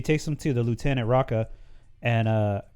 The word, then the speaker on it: Rekka: Yeah, so she takes them to the Lieutenant Raka and pronounce that correctly, right? Rekka, and tells him like, oh, he found a